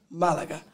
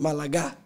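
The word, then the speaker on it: Málaga: So Malaga, that word has an A, the first A has an accent, so it's Malaga rather than Malaga. Get it? Pronunciation. If the accent was on the end A, you'd be, so I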